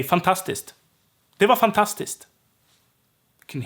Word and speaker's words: fantastiskt: K is silent here and turns to st. So fantastic in Swedish is fantastiskt. Fantastiskt. Not fantastiskt. That's not what we usually say.